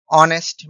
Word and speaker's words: honest: Similarly, honest man. Here the word honest H is silent and it is pronounced as O.